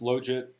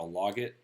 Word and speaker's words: logit: link function um first of all it is pronounced logit i think there was about an eight or nine year period of my life where i kept on calling it a logit because it spelled log it as far as